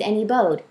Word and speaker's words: N.E. Bode: anybody funny very funny I pronounce it any Bode but you know what do I know I just made up the pen name okay so um I